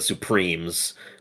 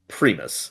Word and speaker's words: Supremus: Um, but then hearing about how do you pronounce it? I've been calling it the Supremes, but Supremus.